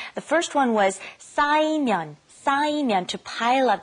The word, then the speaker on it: 쌓이면: The first one was 쌓이면, to pile up. Be careful with the 싸. 쌓이면. The second one, to relieve or get rid of, 풀어요.